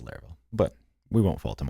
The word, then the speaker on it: Laravel: doesn't really care but he says it is pronounced larl but we won't fault him on that as